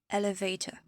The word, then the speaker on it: elevator: On a tendance à prononcer or, R. Non, c'est juste prononcer comme si c'était ER. Donc actor, particular, elevator.